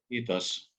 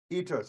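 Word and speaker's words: kiitos: wanted to thank you how do you say thank you in Finnish itos itos okay I can say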